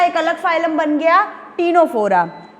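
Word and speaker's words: Ctenophora: अब देखो टीनोफोरा, सी साइलेंट है, तो टीनोफोरा में भी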